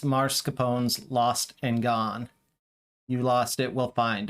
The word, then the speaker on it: Gone: says and tell him it's pronounced gone g-o-n-e and she closes